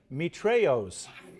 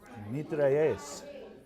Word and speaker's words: mitrailleuse: Mitrailleuse. That's not how you say it. How do I say it? Mitrailleuse. Mitrailleuse? It's the French. Mitrailleuse.